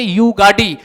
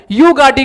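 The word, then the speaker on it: युगादी: कर्नाटक में वाई से स्पेलिंग शुरू होती है नए साल को, YUGADI, युगाडी कहा जाता है। दोनों का प्रोनाउंसिएशन युगाडी युगाडी ही है।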